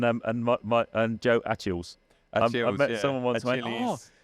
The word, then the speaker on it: Joe Achilles: And um and my my and Joe Achilles. Achilles. I met someone Achilles. You know that Joe Achilles? I'm like, who? Oh, you mean Joe Achilles?